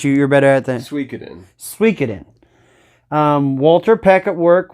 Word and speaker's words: Suikoden: you say this you you're better at that Suikoden Suikoden Walter Peck at work was wanting this